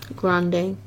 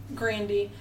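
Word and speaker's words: Grandi: And she meets, his name is Grande. Or Grandy. Grandy. I call him Grande because that's... I feel like it worked either way. I feel like either she was saying it wrong or it really was Grandy and it ended in a Y, not an E.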